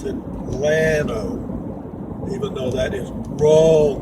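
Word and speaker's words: Llano: and go to Atlanta spelled l-l-a-n-o two L's in Spanish is a y pronounced Yano but up here the green goes pronounce it glano even though that is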